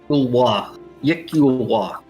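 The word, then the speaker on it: iklwa: It's Yikulwa. Yeah, you just, how do you spell it?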